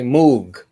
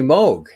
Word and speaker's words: Moog: i grew up and that's the way to say it right a lot because a lot of people would say moog smoke it's really moog right yeah so they